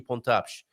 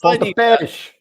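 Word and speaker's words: Pontapés: That last E, you tend to miss your accented vowels, and to me, they're magic because it's the only place in the Portuguese language that has hard and fast rules always. It says, put the emphasis here and pronounce this vowel this way. And it's esh.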